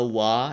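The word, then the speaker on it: は: there out there um this is not W this is ha but make an exception um this is pronounced W when when being used as a topic particle um I know I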